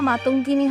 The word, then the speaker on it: মাতঙ্গিনী: সূত্রপাত ট্যাবলো ধারাভাষ্যে বীরাঙ্গ মাতঙ্গিনী হাজরার নাম মাতাঙ্গিনী বলে উচ্চারণ করেন সঞ্চালিকা।